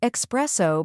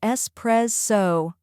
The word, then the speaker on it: espresso: the correct pronunciation is es pre so let's break it down first we have e which sounds like s in best there is no X sound here next we have pre